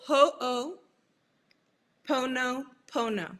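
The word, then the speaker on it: ho'oponopono: It's ho pono pono. So ho like h o apostrophe o and then pono is p o n o p o n o.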